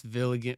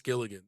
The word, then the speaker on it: Gilligan: Vince Villigan. Vince Villigan, is that how you say it? The guy who did Breaking Bad? Yeah, yeah, yeah, Vince Gilligan.